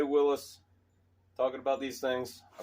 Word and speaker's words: Willys: number a little bit and what's cool about Willie's well when we stop for the purist out there it's actually pronounced Willis you'll hear real Willy's guys say Willis I